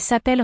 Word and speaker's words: s'appellent: Note that there is a double L, so the E in the middle of appel is making an E sound, and ENT at the end of s'appelle is silent.